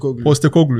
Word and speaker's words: Postecoglou: I can't pronounce the name. Can you help me? Lopetegui. No, West Ham... Postecoglou, yes.